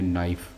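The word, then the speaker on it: knife: please give me अ नाइफ़, तो यहाँ पर ए जो है ये भी, अब यहाँ पर के साइलेंट है तो इससे पहले लेकिन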